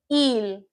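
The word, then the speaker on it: 일: So this is pronounced il, il, your e vowel and the l consonant.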